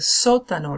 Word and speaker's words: sótano: law so tonneaus but notice the stress is on the first syllable so I'm going to say it you say it el sótano repeatin es una es